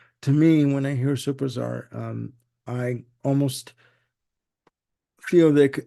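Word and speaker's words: Supertzar: uh and I hope I say this correctly superar let's spell it s u p e r t z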